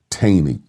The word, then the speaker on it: Taney: The Chief Justice at that time was Roger Taney. Chief Justice Roger Taney. Some people pronounce his name Taney.